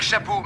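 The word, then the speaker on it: Chaput: Chapeau, mais ça s'écrit C-H-A-P-U-T.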